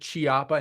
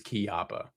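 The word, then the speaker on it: Chiappa: out song, I've I swear I've heard millions pronounce it Chiapa, not Kiyappa. Um, yeah. I I I think I apparently apparently I mean and this is just from the YouTube comments. It is key opa but I think a lot of people and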